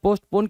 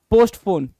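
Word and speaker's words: postpone: पोस्टपोन है भाई, ये पोस्टपोन है। बहुत सारे लोग इसको क्या समझ के बैठे हुए हैं, पोस्टफोन। क्या समझ के बैठे हुए हैं, पोस्टफोन समझ के बैठे हैं कि हमने इवेंट क्या किया, पोस्टफोन कर दिया। तो पोस्टफोन गलत है।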